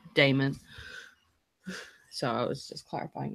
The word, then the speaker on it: Daimon: No, it's pronounced Daimon, not Daimon.